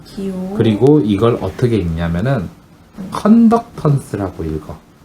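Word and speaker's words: conductance: 그리고 이걸 어떻게 읽냐면은 컨덕턴스라고 읽어. 컨덕턴스.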